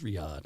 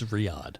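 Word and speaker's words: Riyadh: Arabia oh Riyad it's what I said it's Riad yeah exactly that's the capital well but that's that might be how you pronounce it Carol lived in daharan did she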